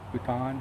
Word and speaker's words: Bhutan: it pronounce it correctly I think it's Bhutan Bhutan Bhutan yes so can you talk